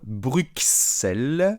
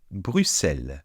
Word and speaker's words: Bruxelles: Alors non, on ne dit pas Bruxelles, on ne dit pas Bruxelles, comme les Français disent souvent, mais on dit Bruxelles.